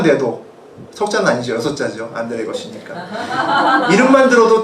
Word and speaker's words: 에거시: 사람이지만 아실 텐데 안드레 에거시라고 하는 사람이 있습니다. 옛날에 굉장히 유명한 사람이었고요. 처음에 이제 우리나라 사람들이 외국어니까 아가씨라고 발음을 많이 했습니다. 처음에 들었을 땐 여자 이름인지 여자인 줄 알았는데 외국 사람입니다. 안드레 에거시.